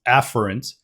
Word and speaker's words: afferent: Bringing blood into the glomerulus is the afferent arteriole, pronounced afferent, but this right here is the efferent arteriole. So I will very clearly distinguish the pronunciation, whether or not that pronunciation is correct, to clearly distinguish between which blood vessel I'm talking about.